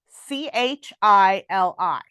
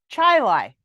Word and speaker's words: Chili: on the way to his parents house um it's spelled c-h-i-l-i yeah which you would think would be pronounced chili yeah Chai Lai chai life chili and I'm like how in